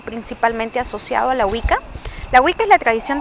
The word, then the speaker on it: Wicca: de vista de una Wicca o de una Wiccana, ¿cómo se pronuncia?